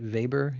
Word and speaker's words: Weber: you're in Europe Volkswagon just like we pronounce it vber in Europe factories often choose to